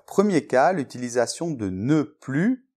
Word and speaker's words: plus: Attention, on ne prononce pas le S de « plus ».